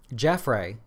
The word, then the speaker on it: Jaffray: with Piper Jaffray that's how you say it Jeff ray Jeff Jeffrey Jeffrey something it's not Jeffrey its